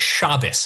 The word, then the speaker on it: Shabbos: I saw the whole video, Shabos. I've seen the entire video. Okay, yeah, I've great. seen the whole thing. Also, it's pronounced Shabbos.